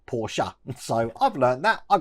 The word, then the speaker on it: Porsche: Yes, you heard me right, I did say Porsche, which is the correct pronunciation of it because it's the German pronunciation of it.